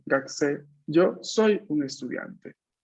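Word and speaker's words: 学生: Gakusei. Se Es, pronuncia, pero poca en realidad.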